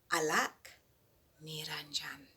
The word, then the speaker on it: Alak Niranjan: So Alak Niranjan, that's how you say it.